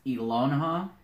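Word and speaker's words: Ehlonna: Her name is Elonha. How do you spell it?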